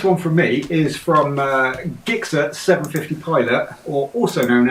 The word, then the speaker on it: Gixxer: It's not Gixxer, it's Gixxer. Let's get that right.